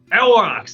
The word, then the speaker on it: aurochs: Aurochs, right? It's like a huge bison. Aurochs? I don't know. And then he turns in like, Aurochs, that's it, thank you.